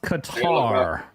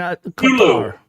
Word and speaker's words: Qatar: B says it's pronounced Qatar. Yeah, I mean, Qatar.